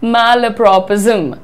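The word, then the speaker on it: malapropism: अच्छा, अब देखिए यहाँ पर ये जो हमारा वर्ड है, इसको मैला नहीं बोलना है, इसको बोलना है मैलप्रोपिज्म। पहले मैलप्रोपिज्म, और ये इतना शानदार वर्ड होता है।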